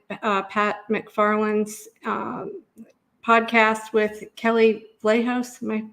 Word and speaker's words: Vlahos: It's Vital Dissent, Pat McFarland's podcast with Kelly Vlahos. Am I pronouncing that correctly?